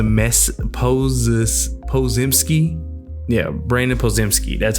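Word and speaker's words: Podziemski: Brandon posed a mess poses pozimski yeah Brandon pozimski that's how you say his name drive to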